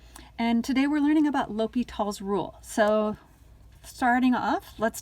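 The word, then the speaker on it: L'Hôpital: o the other one it looks like the hospital but it's not pronounced la hospital it is pronounced l'hopital so please pronounce it correctly and i know this doesn't tell you what l'hopital is does or anything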